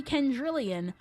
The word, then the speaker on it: Kendrillian: The reason why I go by Kendra is because for some freaking reason, people actually have a hard time saying Kendrillian, despite it literally having the same pronunciation as 10 million.